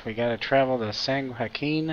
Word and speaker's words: San Joaquin: we gotta travel to sang Hakeem I think that's how you pronounce it Joaquin Delta all right